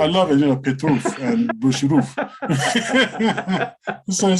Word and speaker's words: Boshirov: Boshirov and Petrov. Yes. You pronounced it far better than I did. Oh, I'm just faking it. Okay. It sounded convincing. I love it, Petrov and Bushirov.